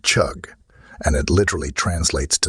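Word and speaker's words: חוג: the Hebrew word used in this verse it's pronounced chug and it literally translates to Circle circuit or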